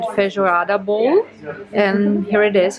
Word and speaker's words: feijoada: So I learned that I'm supposed to pronounce it feijoada bowl, and here it is.